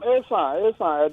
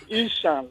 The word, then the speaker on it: Esan: Call Isha. It's not Isha, please. Esan. Esan. Yes. Benny, now I know how to pronounce it. Esa Abulime. It's the British that used to call it Ishan.